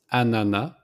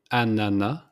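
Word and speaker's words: ananas: res the pineapple it's Anana so we don't pronounce the S at the end it's simply Anana like banana but without the B at the beginning so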